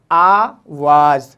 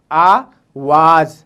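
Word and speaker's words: آواز: तरीके से होता है आवाज़, आवाज़, अलिफ मद्दा, वाव अलिफ और जे, आवाज़, आवाज़, ठीक है।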